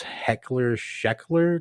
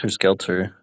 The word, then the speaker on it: Helter Skelter: Yeah, the name of his cult or his ideology was Heckler Scheckler, like Schechter. I I think it can't was even pronounce. Helter Skelter.